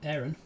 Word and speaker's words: Aron: got an end right and then Aaron or Aaron as I pronounce it um my middle name a-r-o-n uh